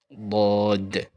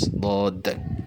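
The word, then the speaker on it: ضاد: And this, the next letter is same shape, Dod, Dod, D-A-D, D-A-D, Dod. So you will combine it, and this is Dod.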